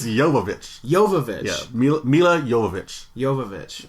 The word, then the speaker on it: Jovovich: It's Jovovich. Jovovich. Yeah, Mila Jovovich. Jovovich. Oh, so the J. So Jovovich? The J is a Y. It's like Django.